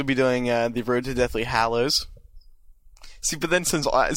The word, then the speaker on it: Hallows: doing it wrong yeah Hallows Hallows Hallows Hallows not hollow like a hollow in a child I never see hollow